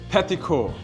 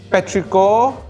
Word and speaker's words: petrichor: Petrico. Petrichor is the correct answer. So Shearmen, you get 300 points. Good job, man. You mispronounced it but I'll give you a pass.